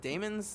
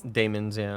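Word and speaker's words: daemons: Is it Damons? Demons, yeah. Um, or demons, but it's spelled Yeah, D-A-E.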